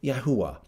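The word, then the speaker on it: Yahweh: the scriptures pronouncing the original names as best as possible as they were they were originally pronounced and we're going we're going to pronounce the name of God as yahwa okay um I don't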